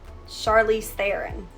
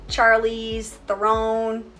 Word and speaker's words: Charlize Theron: break right charlize theron it's charlize theron not charlie's throne weird i always say chloe 70 i don't know but it's chloe 70.